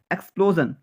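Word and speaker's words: explosion: এখানেও জন উচ্চারণ হবে, ইনফিউশন। এক্সপ্লোজন, এক্সপ্লোজন, এক্সপ্লোজন।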